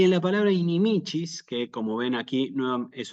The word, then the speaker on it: inimicis: en la penúltima sílaba inimicis sí Y nuevamente aparece la c con la i que la pronunciamos como una C ch s inimicis sí cuidado también con